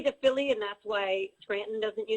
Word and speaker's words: Scranton: Correct pronunciation of Scranton is without the T. It's Scranton. Scranton.